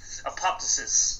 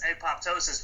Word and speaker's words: Apoptosis: I love how you pronounced it in the British way. That's very Apoptosis.